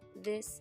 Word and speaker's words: this: them the same but the vowel sound is different this is a short I it sound while these is a long I ease out this and these that's